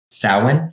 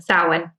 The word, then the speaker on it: Samhain: Like recently, can someone pronounce what Halloween is called with S? Samhain. Samhain? Samhain.